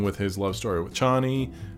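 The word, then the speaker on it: Chani: his love story with Johnny or Cheney in that version that's what the how they pronounce it but I really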